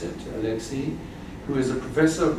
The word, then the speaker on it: Olexiy: Professor, it's my pleasure to introduce you to Professor, this is how you pronounce it, Olexiy, who is a professor of comparative politics at the National University of Kyiv in Mohyla Academy since 2002.